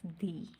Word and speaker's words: the: ठीक है, तो यहाँ पर आप देखें, व्हेन दा comes before uh wall sound it is pronounce as दी। ये दा वर्ड है, ये जब आता है वॉल साउंड